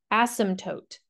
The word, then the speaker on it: asymptote: in the graph and we call those vertical ASM tootes so um that is spelled really funny it is a s y m p t o o t ASM toote so it's a really weird word and it's